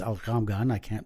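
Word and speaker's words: al-Ghomgham: a young woman and her name is Ezra al gum gun algum gun and it's actually pronounced al calm Ghana do the G in Arabic very well but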